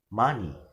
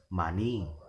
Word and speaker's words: money: So we will pronounce money as money. We will never pronounce it as money.